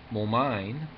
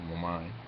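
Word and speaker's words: Moulmein: In Momine, Lower Burma, and you do put the pronunciation, the accent on the second syllable, Momine, he says, I was hated by large numbers of people.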